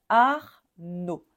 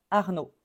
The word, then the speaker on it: Arnaud: son O parce que le D est muet donc on prononce pas le D on va dire Arnaud Arnaud pareil ici on ne